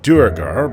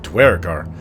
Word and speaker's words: Duergar: in the under dark I call them durar but I noticed these Northerners call them dwar I was told both are correct and my pronunciation is more of a southern fonan dialect and just like darkows